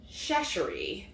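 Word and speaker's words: Chachere: And how do you pronounce his last name? Shashery.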